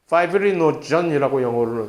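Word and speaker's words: fibrinogen: 하는 단백질인데, 그것이 원래 이러한 비활성화된 상태로 있어는 피브리노겐이라고 이름이 나중에 나올 거예요. 이름이 파이브리노전이라고 영어식으로 발음하는데, 그 역시 대표적인 자이모전입니다.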